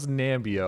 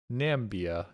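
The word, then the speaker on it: Namibia: The I is small. All right. And I is small and it's sort of jammed in there next to the M and the B. All right. So, it's sort of like it it just blends in.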